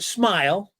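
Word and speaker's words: Smael: I don't know how much you've done some research, Matt, but uh it's pronounced Smile. I know that. So, no need to struggle with it. Smile Mondon.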